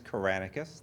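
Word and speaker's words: Kyranakis: first name is Michael but last name is kranus that is spelled k y r an a k i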